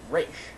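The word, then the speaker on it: Ra's: little thing but still you should pronounce the name right it's race that's it so i'm going to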